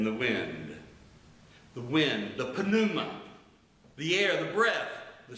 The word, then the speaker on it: pneuma: spirit is panuma now in english we would drop the p and say numa but in the greek it's pronounced panuma so penuma means wind